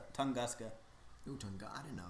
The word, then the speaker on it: Tunguska: It's not It's not Tuscanga. It's Tunguska.